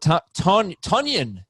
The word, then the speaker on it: Tonyan: Robert Tonyan, it's pronounced.